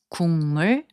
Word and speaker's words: 국물: So 국물, which means soup broth, is pronounced as 국물.